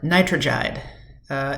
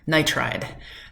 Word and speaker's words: nitride: Nitrogide, no. Nitride, it's usually like the last syllable.